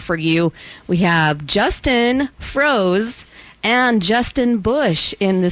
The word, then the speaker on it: Froese: And how do you say that one? Froese. Oh. Froese. Yeah. Like rosé.